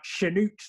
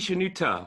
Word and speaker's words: Shenoute: He will be saying a little bit this evening about Shenoute the Great. Is that the correct pronunciation? It's actually Shenouta, but that's fine, because I was calling him Okay.